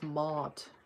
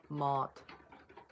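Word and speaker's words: Mouthe: Apparently that they say it's Mot. Honestly kind of makes sense cuz it's m o u t h e, Mot.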